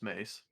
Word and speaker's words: Mace: him she thinks she's she thinks his name is pronounced masewindu no it's mace and the reason the